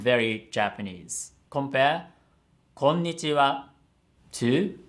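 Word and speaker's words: こんにちは: So, こんにちは has 5 moras. But the way they said it, it sounds like it only has 4 moras. こんにちは, こんにちは. So you have to give a full mora that it deserves.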